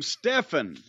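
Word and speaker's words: Stephon: Anyway, I got an email from Stefan. I believe that's how you would pronounce S-T-E-P-H-O-N. Stefan.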